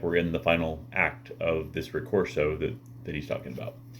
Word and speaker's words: fin: That Vico's philosophy had a great impact on Joyce can even be found in the title, with the French fin, F-I-N, which is pronounced fin, for end, that's the French word